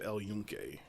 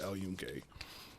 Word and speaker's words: El Yunque: We went to El Yunque. Spell Yuncan. Okay. I don't Yeah. know how it's pronounced, but that doesn't sound like. It doesn't, but the Y makes a J noise in Spanish.